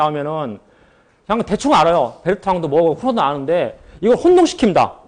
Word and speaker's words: Bertrand: 그래서 그게 이제 베르트랑 모델이에요. 베르트랑. 그래서 이제 이것도 똑같이 프랑스 발음으로 해서 그냥 베르트랑 이렇게 합니다. 그래서 D 발음은 안 넣은 거예요.